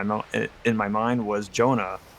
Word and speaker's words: Joana: say my name and I decided to say Jonah and the reason why is because I well I'm a dude playing a female character and Joanna sounds more feminine while Jonah sounds less